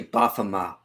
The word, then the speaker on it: Baphomet: Yeah, I think it's actually Baphomet. Like the T, I think is silent.